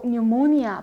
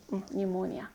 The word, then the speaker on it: pneumonia: 심각한 형태의 뭐 pneumonia 푸 발음 안 나요. 폐렴 pneumonia.